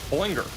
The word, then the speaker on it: Ballinger: It looks like a hurricane right now here near I'm still trying to figure out pronunciation. Binger. Binger. Ballinger.